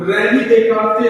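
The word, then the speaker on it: Descartes: तो अगर देखा जाए उनका नाम रेनी डेकार्थे था। क्या था? रेनी डेकार्थे था। और उनको हम लोग इंग्लिश में यानी कि डिसिज जो है लिखा हुआ स्पेलिंग से पढ़े तो वैसे हो जाता है।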